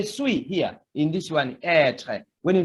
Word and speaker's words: être: You can see this one shows that the pronunciation of E should be prolonged. It is like this, être.